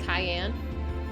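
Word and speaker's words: Cyan: there were ghosts in the simulation so who was Siegfried it fixed the main bad guy it's pronounced Cayenne I didn't know if it was Kane or how to pronounce it or Scion okay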